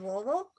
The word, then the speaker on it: Louisville: you pronounce louisville correctly you're supposed to pronounce it as if you have a mouth full of marbles and you did it